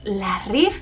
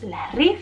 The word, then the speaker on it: La Rive: la nueva marca es la rif veis que pone la ri pero se pronuncia como una F al final la rif y es una de